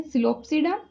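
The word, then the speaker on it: Psilopsida: Pteridophyta के under हम discuss करने वाले हैं सिलोप्सिडा, पी साइलेंट रहेगा यहाँ पे, लाइकोप्सिडा, स्फेनोप्सिडा, टेरोप्सिडा।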